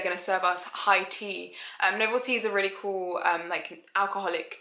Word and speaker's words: Noveltea: I think it's Noveltea. Noveltea.